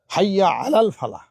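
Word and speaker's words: حي على الفلاح: এটা হাইয়া আলাল ফালাহ উচ্চারণ ঠিক করতে হবে।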